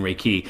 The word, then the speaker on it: Reiki: I say dabbling in Reiki? Um and and am I correct that the emphasis of the word raiki? It's on key.